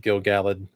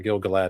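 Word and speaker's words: Gil-galad: thousands of years old because you're fighting with Gil galled at Mordor oh yeah I know I I Gil galled is technically the correct pronunciation gilgalad is always what I called it too until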